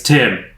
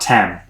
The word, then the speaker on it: Tim: Tim," and he was like, "It's Tim, not Tem."